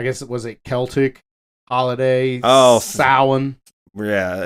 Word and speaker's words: Samhain: Oh, Samhain. Yeah, it looks like Samhain, but it's pronounced Samhain. Yeah, as Donald Pleasance says, right, Samhain.